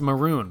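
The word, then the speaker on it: Mörön: Sadly, it's pronounced maroon, but that ruins the joke.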